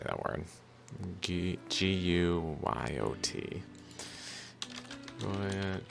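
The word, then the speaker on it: guyot: Goyet pronounce...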